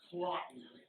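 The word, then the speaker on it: Cloten: One of the battles is between the son of the queen, a miserable but well-named Clotten, Rhymes with rotten.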